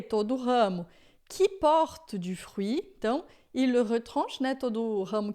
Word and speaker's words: fruit: todo ramo que por fruit, então retran, né? Todo ramo que não dá fruto, ele o corta. Fru é interessante porque a gente em francês vai falar du frui, tá?